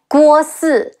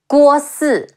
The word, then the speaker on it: Guo Si: E, Jue, Li Jue, Guo Si, Ge Wu O, Guo, Guo Si, Xu Rong, Xi Yu,